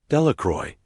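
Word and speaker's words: Delacroix: Bobby and Harry Jones and Dicky Delacron, the villagers, pronounced this name. Delacroy eventually made a great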